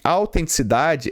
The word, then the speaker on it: autenticidade: Este autenticidade, ele tem a sílaba tônica aqui, ó, na penúltima, ó.